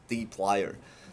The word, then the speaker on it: dplyr: Usually we uh, pronounce it as dplyr.